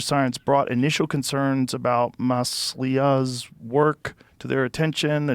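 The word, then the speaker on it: Masliah: But over the past 2 years, questions have arisen about some of Masala. How do you say his name? Masila. Masila. You were great. Maslia.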